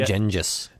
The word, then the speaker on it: Genghis: I call him Gengis. Genghis. Like Ginger Can.